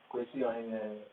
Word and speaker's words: Kawasi Ohene-Ayeh: Kawasi Ohene-Ayeh, right.